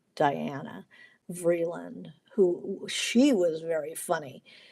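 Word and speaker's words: Diana Vreeland: who uh uh uh her name was Danna Vland, spelled like Diana Vland, who she was very funny.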